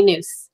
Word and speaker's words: Nuce: So I wanted to introduce Nuce, who actually helped me out with the pronunciation. Did I get it right? Oh, it's Nuce. Yeah. Nuce.